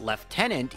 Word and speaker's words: lieutenant: don't know to me I say lieutenant because I first heard it in Star Trek I know that's kind of sad but they say lieutenant because in America they say lieutenant I believe it comes from French where it's also lieutenant but when translated to English for whatever reason they said left tenant and the British say left tenant and Canada likes to do what Britain does so can it also says left tenant and there is your